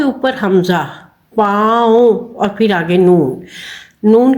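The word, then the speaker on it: پاؤ: इसमें हमने हमजा को वाव के साथ मिला के बोलना है। पाऊ हमजा की आवाज आएगी। वाव की आवाज नहीं आएगी।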